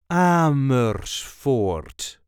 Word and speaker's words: Amersfoort: Ammer fort. There is a light emphasis on the first syllable.